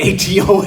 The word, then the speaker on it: Adam: I thought everybody had someone in their life named Adam because it we pronounced it like a dam. Um, but it's really a doom and that's super crazy weird, right?